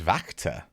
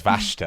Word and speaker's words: Wachter: So it's Vactor. Is it really? Ah. So I looked at the Google, the German pronunciation of it, and it was Vashta, and I was like, I'm going to go with that. But Vactor. Oh, interesting. No, it's Vactor.